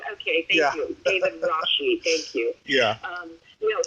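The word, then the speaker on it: Rasche: David Rashet is a dog. Yeah, it's actually pronounced Rashi. Pronounced Rashi. Am I doing it wrong? Okay, thank you. David Rashi.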